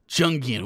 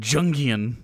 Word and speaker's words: Jungian: idea that our subconscious junkian with a hard j i can't believe he said it i can't believe he said jungian the deep dark and